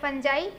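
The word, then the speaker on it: fungi: जिसे हम बोलते हैं funjai या फिर फंगी भी आप बोल सकते हैं ठीक है दोनों प्रोनाउंस होता है तो कवक आप देख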